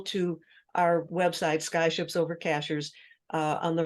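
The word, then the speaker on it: Cashiers: it by the way Cashers sounds like a strange word uh it's spelled just like a cashier at the supermarket uh we actually have a town here in North Carolina called Cashers and um that's where we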